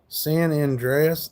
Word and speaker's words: San Andreas: San Andreas. That's how you say it.